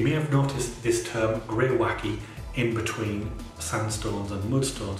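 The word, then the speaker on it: greywacke: petyon scheme you may have notice this term gray wacky in between sandstones and mudstones on the Pyon scale and here it is pronounced gray wacky and this is an older term for very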